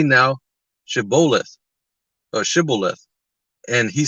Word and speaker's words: Shibboleth: Then said they unto him, Say now Shibboleth. And he said, Sibboleth, or Sibboleth, for he could not frame to pronounce it right.